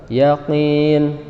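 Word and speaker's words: يقين: Pertama yang sering saya perhatikan itu terjadi kesalahan itu membaca huruf ko-nya itu terlalu tebal. Yakin, yakin, hati-hati. Sampai dibaca yakin tapi yakin bukan yakin.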